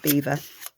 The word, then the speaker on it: Belvoir: road from us so spelt belvoir b-e-l-v-o-i-r belvoir but it's pronounced beaver beautiful beautiful castle and